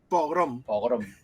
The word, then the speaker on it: pogrom: étnicos minoritarios de hecho es una palabra muy curiosa porque a los españoles nos cuesta pronunciarla porque suena como programa y no tiene nada que ver nosotros a veces hay gente que pone una r pone pro y no es pogrom pero sí no nos cuesta horrores pronunciarla Aunque en las imágenes